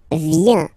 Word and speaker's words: viens: So, the first form is je viens. Je viens. Okay? Remember this I, viens, viens. And then this nasal. Final S not pronounced.